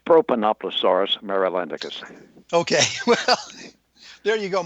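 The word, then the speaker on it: Propanoplosaurus marylandicus: And the pronunciation of your dinosaur, did I get that even close? Not quite. It's Propanoploaurus marylandicus.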